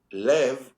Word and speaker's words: Lev: Yeah, I think I think by the way, Lev, which is how you actually pronounce pronounce my family name in Israel, Lev in Hebrew means love, means heart, right?